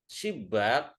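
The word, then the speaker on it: شبّاك: Asalnya subak. Shibak tazakir. Sibak tazakir itu berarti loket. Subak kan jendela. Kalau amiyahnya sama sebenarnya. Cuma di sini bacanya shibak ittazakir.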